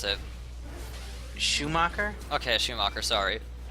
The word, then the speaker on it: Schumacher: How do you pronounce it? Schumacher? Okay, Schumacher, sorry.